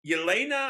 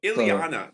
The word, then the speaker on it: Ileana: Yeah, he turns into Yelena. I think how pronounce it. Oh no, Ileana.